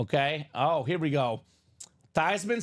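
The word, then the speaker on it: Theismann: and she said actually the correct pronunciation is tyan tysman uh so it's a lot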